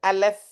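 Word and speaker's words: אלף: For example, இந்த இந்த என்னோட ஸ்க்ரீன் பார்க்குறீங்கன்னா இதுதான் ஃபஸ்ட் எழுத்து, அலெஃப் தான் அதோடைய பேர். தட்ஸ் அப்படி தான் ப்ரொனவுன்ஸ் பண்ணணும்.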